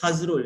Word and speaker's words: Hazrul: my name is uh it's pronounced as has rule not agile okay he's pronounced as husband